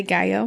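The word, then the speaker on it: Gallo: begin with Lorena goo it's spelled g l l o but she's from Ecuador so we're going to say GAO G God sounds great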